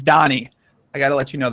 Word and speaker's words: Dani: I got man Danny Donnie Donnie Donnie I appreciate coming someone called you Daniel are they on a podcaster like Oh Danny I was like no his name's Donnie I gotta let you